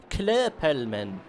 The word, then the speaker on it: Klöppelman: You pronounce an O like an E in her. Okay, so Klöppelman.